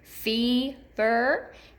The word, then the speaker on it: fever: You can hear that long E in the first syllable in both of these words. Fever and even.